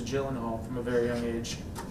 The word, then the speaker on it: Gyllenhaal: a couple other places have we been pronouncing your last name wrong this entire time it just depends is it you know I guess I don't know what do you say I I was told as Gyllenhaal from a very young